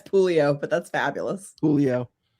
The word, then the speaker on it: Puleo: Yeah, it's Pulio.